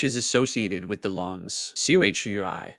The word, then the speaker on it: Chui: associated with the lungs; Chui pronounced like tui with a forceful exhale, which is also associated